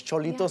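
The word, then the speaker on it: Xolito: El Cholito is TJ style, and it's Cholito spelled with an X, of course, which is the native dog of Mexico.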